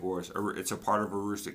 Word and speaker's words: Aroostook: Like the Aroostick County; Fort Kent sits in Aroostick County. Pronounced Aroo-Stick Aroostook County which is northern Maine, I would consider it backwoods, and for me that is saying something.